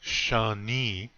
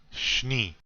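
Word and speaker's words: šni: very good and it's not shawnee it's shni that and the n sound just right after each other you hear that now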